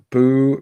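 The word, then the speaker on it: Beau: Boo Bridges. Is that how you spell his name and everything? I think it's actually pronounced like Bew.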